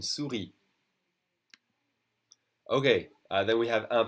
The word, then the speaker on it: souris: A mouse is une souris. Whether it's the animal or the computer thing that you drag, it's une souris. Okay, we don't say the final S. Une souris.